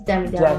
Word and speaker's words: Demi Devil: Am I pronouncing it right, by the way? Demi Devil. Yes, it's Demi Devil.